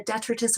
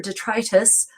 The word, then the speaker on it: detritus: It's good at removing, and I'll say it again, the detritus or detritus from your hair. There's two different pronunciations for that word. Some of you have objected to my pronunciation.